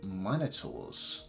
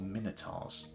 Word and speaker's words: Minotaur: So I've got Centaur, Harpies, Medusas, Gorgons, and Minotaurs, or Minotaurs. I've heard a lot of Americans say Minotaur. I've always said it's Minotaur. I think both are allowed. Maybe that's a British American thing.